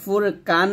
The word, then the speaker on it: ফুরকান: লিন্নাসি ওয়া আনজালাল ফুরকান আমরা এখানে ফুরকান বলি কফর উচ্চারণটা কাফের মতো করে ফেলি তো এই যে ভুলটা এটা একটু সতর্ক থাকবেন কফ যেন কাফ না হয়ে যায় একসাথে এখানে যেহেতু পাস